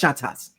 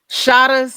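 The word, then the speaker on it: Shottas: the movie Shas shat no it's pronounced shatas shatas yes I have seen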